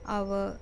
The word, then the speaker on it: hour: In the following words, H is silent, but it begins with the vowel sound, so we have to use an. Examples: an ire, an hour, an honest boy, an honor.